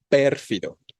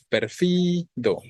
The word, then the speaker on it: pérfido: es más sencilla y cómo lo decimos así pérfido con la tonicidad en per no decimos perfido está raro decir perfido